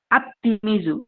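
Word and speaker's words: التلميذ: মানে ছাত্র একজন ছাত্র আত্তিমিজু এটা হলো উচ্চারণ আর এটা লেখার সময় লেখার সময় এভাবে আমাকে লিখতে হবে কিন্তু এটা উচ্চারণে আসবে না তাহলে তিলমিজুন মানে একজন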